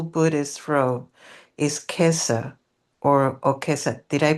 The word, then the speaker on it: okesa: Japanese term for the full Buddhist row is quesa or okesa. Did I pronounce it correctly?